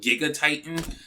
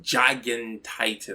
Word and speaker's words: Gigantitan: to say like I want to call it Giga Titan but it's pronounced Jagan Titan like it will be gigantic and Titan which